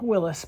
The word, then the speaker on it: Willys: Today we're working underneath my 1962 Willies pickup or as some call them Willis pickup which is the correct pronunciation but in these parts they call it Willies typically.